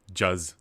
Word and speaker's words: Juicier: JUZ. I don't know how I'm supposed to say that, but Juzz. the Juzzier. That's either way. It's getting into this is dangerous one- territory either way you pronounce it.